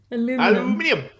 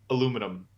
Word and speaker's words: aluminium: it that it does but normally aluminium how do you say it normally aluminum yeah like that is so much nicer like i want to